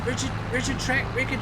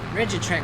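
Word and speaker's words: Rigitrac: bigger version of this rigid track. How do you even pronounce its name? R-I-G-I-T-R-A-C. Rigid track, probably.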